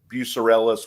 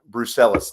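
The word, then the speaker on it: brucellosis: health conditions bu uh I'll always pronounce it bucellis which is a disease that can spread to yeah brelis that's it U spread to cattle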